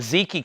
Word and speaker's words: Zeke: This is the Zeke Clements. However you say his name, Zeke or Zeke. Zeke, Z-E-K-E.